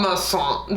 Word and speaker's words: Masson: Is it Masson? How do you say it? Well, Paul Masson.